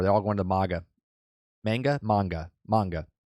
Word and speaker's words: manga: Manga. Right? It's pronounced manga.